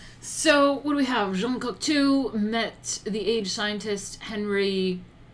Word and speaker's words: Jean Cocteau: Jean Cocteau met the age scientist Henry Poincaré.